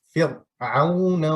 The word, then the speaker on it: فرعون: Donc, il faut prononcer une seule fois le ra. On dit Fir'auna wa thamoud.